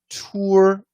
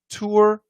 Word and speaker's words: tour: And tour, this is that long O plus R.